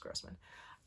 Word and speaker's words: Grossman: morning The Magicians by L grman or Grossman I think it's pronounced Grossman I have known about